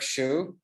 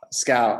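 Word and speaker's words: Schout: we have um Dirk Shu um I definitely didn't pronounce it right but sorry Dirk I didn't ask you prior how to pronounce your last name like school and out Scout okay Dirk Scout Dirk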